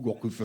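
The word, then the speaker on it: Gourcuff: toujours quoi comme vous Gourcuf fe c'est Gourcuf bah non il y a de F ou deè F de se prononce pas bah pourquoi il le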